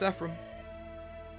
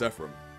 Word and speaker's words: Ephraim: film making is really weird princess Erica Prince epim wait that's not right princess Erica Prince Ephraim you should look outside outside wow opening day